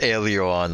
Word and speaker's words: Aileron: It's Aileron, it's actually spelled and pronounced Aileron, like the airplane like the, port.